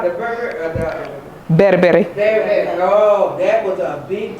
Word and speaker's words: berbere: Bere. Oh, I love that. Or Americans say Berbere, but Yeah.